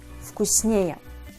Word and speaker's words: вкуснее: If the simple comparative degree consists of two syllables and ends with the suffix «ее», this suffix always takes the stress. Сильный – сильнее, вкусный – вкуснее.